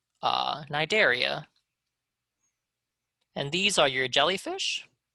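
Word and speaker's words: Cnidaria: start of nigeria is silent that's how you pronounce it nai dare e nidaria and these are your jellyfish and your c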